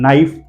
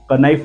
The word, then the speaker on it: knife: और कोई rules and regulation नहीं है, जब भी के और एन एक साथ टुगेदर दिखाई दे तो आपको के को पढ़ना नहीं है।